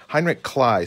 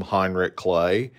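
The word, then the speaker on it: Heinrich Kley: spoke about him a little earlier Heinrich clay Heinrich Clyde spelled like clay and for many years I called him Heinrich clay um but clay would be how we pronounce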